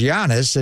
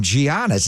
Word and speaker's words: Giannis: So his first name's Greek, but he's also from Nigeria. His mom and dad were born in Nigeria, but he grew up in Athens, Greece. So there's two different ways to pronounce it, Giannis. But then I call him Antetokounmpo because that's the Nigerian pronunciation. The Greek pronunciation is Giannis.